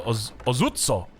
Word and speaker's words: Ozutsu: Taganashima Gunsmith gives you access to the Ozutsu. I think I'm pronouncing that correctly. It's more like the Ozutsu.